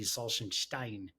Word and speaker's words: Salzenstein: around with it and if we were in Germany it would be Salan Stein you're right that's Salen